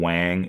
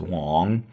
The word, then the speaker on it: Wang: meet a Chinese person don't call them Wang it's pronounced Wong uh means king or